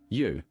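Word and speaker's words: 鱼: For instance, fish is a staple during the Lunar New Year because the word for fish, yu, sounds like the word for surplus or abundance.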